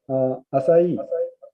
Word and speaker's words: Asai: Asai is spelled is ASAI, quite similar to the Asia.